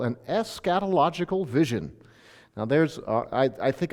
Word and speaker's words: eschatological: And this song of Zion has what in theology we would call an eschatological vision. Now I think I started off with too many syllables already. Eschatological.